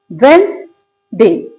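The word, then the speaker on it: Wednesday: तो जब सिलेबस भी दो हैं तो हम इसको क्यों प्रोनाउंस करते हैं गलत? ये होता है वेन डे। वेडनेसडे। राइट? तो इसकी करेक्ट प्रोनाउंसिएशन क्या है? वेडनेसडे। इट्स नॉट वेडनेसडे।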